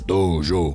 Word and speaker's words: dojô: Se escreve sem acento, dojo, mas a pronúncia deve ser dojo, mas a gente acaba falando aqui no Brasil dojo, e América Latina fala dojo, o japonês é dojo. Tonifica os dois O's.